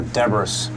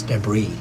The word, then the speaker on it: debris: chassis with boosters yes that is how I pronounce it debris all over the desert or Deborah's no it's debris other than this why is it pronounced Deborah's